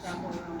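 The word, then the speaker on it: Chappell Roan: Chapel Rome.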